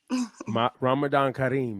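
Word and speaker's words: Ramadan Kareem: happy Ramadan thank you so much Ramadan Karim Ramadan Karim is how you say it well thank you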